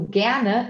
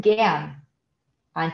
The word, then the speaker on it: gerne: Porque no dia a dia, assim, o E do gerne é engolido. Então, wir hätten gern ein Tiramisu. Mas, na verdade, wir hätten gerne ein Tiramisu, tá? Então, isso aqui é algo que no curso também de pronúncia a gente explica bastante, que o alemão, ele às vezes, ele engole o E no final, tá? Ich hätte gern ein Tiramisu.